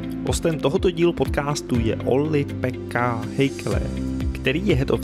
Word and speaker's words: Ollipekka: the first awkward moment of me trying to pronounce correctly your Finnish name. Is it Ollipekku Heikkilä? No. Try it yourself. I can do it, yes. It's Ollipekka.